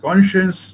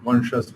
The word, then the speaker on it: conscience: তো কনসিয়েন্স যে কথাটা, কনসিয়েন্স অনেকে ভুল করে অবশ্য এটা কনসিয়াস এরকম বলে, কিন্তু না, এটা হচ্ছে কন সায়েন্স, স্পেলিংটা এরকম CON and